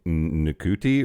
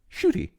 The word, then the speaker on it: Ncuti: that matter um so I I was saying NTI or NTI cuz that's what it looks like cuz it's ncuti but that's apparently pronounced shoy and I I think we shoy call people